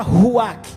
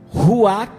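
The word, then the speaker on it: רוח: É impressionante que você não consegue pronunciar a palavra ruach sem soprar. Pode tentar. Ruach, você pronuncia soprando.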